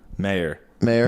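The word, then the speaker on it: Maher: Mayor. Marr. It's Marr.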